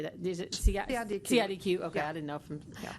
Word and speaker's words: CIDQ: CIDQ.